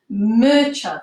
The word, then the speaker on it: Murchad: Her name, or his name, I don't know, you'll have to see, is Murchad. That's how you say it.